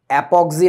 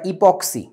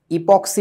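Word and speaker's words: epoxy: raisin শব্দটা এপোক্সি raisin অ্যাপক্সি না উচ্চারণটা ইপক্সি ইপক্সি রেজিন কোথায় দেখছিস একটু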